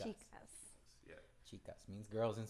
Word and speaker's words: Chicas: Chicas. Chicas.